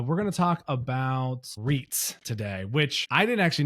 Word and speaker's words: REITs: trust, sorry, real estate investment trust are pronounced as the acronym goes, REITs.